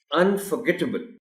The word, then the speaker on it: unforgettable: अब इस वर्ड में ऑनरेबल टीचर स्ट्रेस जी पर है, अनफॉरगेटेबल, और ये जो एबल की साउंड है आखिर में, इसको लंबा नहीं करना. ये दो बातें इस वर्ड के प्रोनाउंसिएशन में इंपॉर्टेंट है.